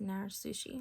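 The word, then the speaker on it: narezushi: So as you can see, it's sushi with a Z, but I believe it's pronounced nair sushi with an S.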